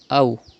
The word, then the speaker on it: أو: You have to pronounce waw lean without stretching and without sudden pause, like this. Aw.